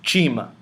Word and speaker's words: Chima: Our next letter is Chima. Chima. Chima is pronounced as CH, as in church. CH as in church. That's chima.